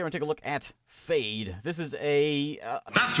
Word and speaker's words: Fejd: idea welcome today we take a look at fade this is a that's right fade okay right it's so f e j d